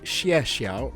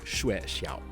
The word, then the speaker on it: Xie Xiao: for Season 3, which should be pronounced Xie Xiao rather than Shui Xiao.